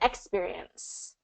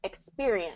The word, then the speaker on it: experience: Um, there was one word you said experience and you said experience and kind of stress the first syllable and it's really second syllable stress experience.